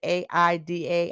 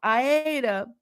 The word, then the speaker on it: Aida: is act three ida i think that's how you pronounce it a-i-d-a aida and it was performed